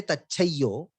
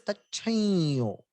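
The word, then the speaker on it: तच्छंयोः: We give a nasal and a double Ya. Tachhayo. We say. We don't say Tachayo. It is not Tachamyo. It is Tachayo.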